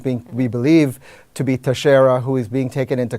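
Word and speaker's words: Teixeira: leaks of these documents his name is Jack Tashara 21 year old a member of the Massachusetts Aaron is that how that gets pronounced Tashara hmm I had said Tech Sierra okay Tashara we'll go with I'm actually glad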